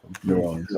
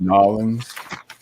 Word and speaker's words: New Orleans: New Orleans. I would have dropped Nolans. Contrary to what Saturday Night Live says, we do not say it like Nolans. Nolans.